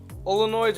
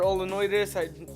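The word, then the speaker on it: Olenoides: Olonoids or Olonoides, some people pronounce it differently. I've heard people who pronounce it Olonoides. I pronounce it Olonoids.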